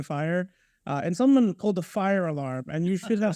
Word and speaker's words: FHIR: In the FHIR community, because FHIR is pronounced fire.